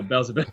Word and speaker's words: Beelzebub: They were like, "No, Beelzebub."